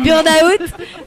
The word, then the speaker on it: burnout: français un burnout burout bah burnout on le prononce en anglais alors qu'il est français